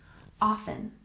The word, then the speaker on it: often: and check our pronunciation often we tend to drop the T sound in this word and we stress the first syllable often often and yoga we stress